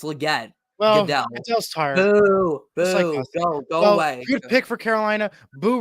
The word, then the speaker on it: Legette: and yeah yeah gell completely mispronouncing he said Li it's Legette good pick for Carolina